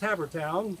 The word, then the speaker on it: Havertown: take care all right so i understand that it's pronounced hammertown that is correct here in havertown pennsylvania